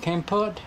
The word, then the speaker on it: Kampot: And then Kampot. I say Kampot, but it's different, isn't it? It's Kampot, Kampot?